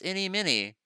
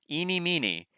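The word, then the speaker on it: Ini Miney: My name is Innie Minnie. Eenie Meenie. Eenie Meenie. Ah, okay. Now I know how to say it once I read the rest of it. Eenie Meenie as an Eenie Meenie Miny Mo.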